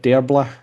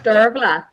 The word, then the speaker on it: Dearbhla: Shannon's told me what this is, and I still fucking don't know how to say it. You want to say it? Dearbla? Dervla? Dervla. Dervla. There you go.